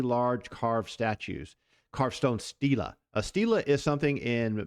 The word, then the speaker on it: stela: And you can go look up the scholarly definition yourself, but it's pronounced stela. Sometimes it's singular, and it doesn't have the E on the end of it.